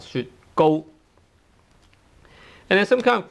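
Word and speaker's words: 雪糕: Go tone 1, 雪糕.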